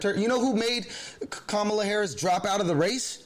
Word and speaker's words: Kamala Harris: that his vp is uh kamala harris to say it correctly kamala harris that's his vp and